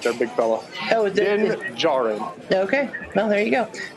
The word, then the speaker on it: Djarin: The D in the last name is silent. They're big fella. Oh, Din Djarin.